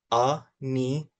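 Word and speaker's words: ʻanianiau: Then we have our ani-ani-o. A-ni-a-ni-a-u. A-ni-a-ni-u.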